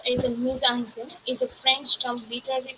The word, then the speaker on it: mise-en-scène: So, mise-en-scene is pronounced as a mise-en-scene, is a French term literally meaning placing on stage.